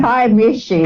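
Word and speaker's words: Kiamichi: I'm your host, Sam Ritchie, and we are with Arla Williams in the Kiamish. How do you say that mountain again? It's the Kiamishi.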